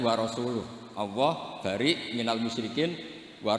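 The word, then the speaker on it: وَرَسُولُهُ: Allah itu terbebas, gak urusan dengan orang musyrik, wa rasulih juga gak ngurus Rasulnya. Kalau sama Rasul saja tidak ngurus, apalagi sama kita. Sama Sayyidina Ali dibenarkan, yang benar bacanya itu wa rasuluh.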